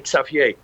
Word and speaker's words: Xavier: town so to say his name was Xavier in Holland you say safier M and he brought